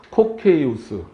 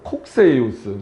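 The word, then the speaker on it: Cocceius: 그게 이제 대표적으로 코케이우스. 이승무 교수님은 좀 다르게 표현하시더라고. 콕세이우스. 그러니까 이거는 그건 이제 발음 문제라 이게 맞다 틀리다 뭐라고 말할 수가 없었는데 코케이우스부터 구속 언약이 나와요.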